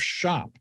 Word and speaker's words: SHÄP: He's the founder of Shop. Shop is spelled ha with an umlout p.